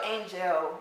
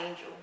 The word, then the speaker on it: Angelle: like my brain so angel why not angel like what was the difference between those two my my mother chose to pronounce it that way she gave me that's